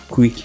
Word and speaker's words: QUIC: it sends for uh quick UDP internet connection Al they they pronounce it quick so it's it's an